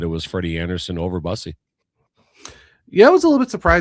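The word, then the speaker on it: Bussi: It's Brandon Bussy.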